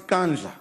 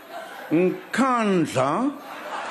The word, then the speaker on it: Nkandla: You know, some people who could not pronounce Kandla, they've now learned Nkandla, Nkandla, Nkandla, hey, hey, hey.